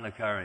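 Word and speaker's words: le Carré: There's this one novelist, I don't know how you pronounce it, is it Le Carre? He writes all these books about spies. Right? John Le Carre, that's right.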